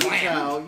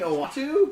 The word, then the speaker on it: Uatu: Utao. You mean Uatu?